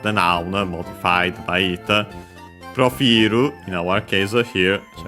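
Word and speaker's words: プロフィール: The accent, is it like, yeah, it is like in French, so yeah, on the I of fi, profilu, subject particle ga, dekita, from the kiru.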